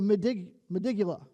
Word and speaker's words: medulla: It says this: scientists have identified a specific region of the brain called the medulla.